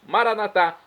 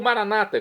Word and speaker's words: Maranatá: E agora eu clamo do aramaico dialeto de Jesus, Maranatá, como dizem os nossos católicos, ou Maranata, como dizem nossos irmãos separados, os evangélicos ou protestantes. Não importa a pronúncia, o significado é o mesmo.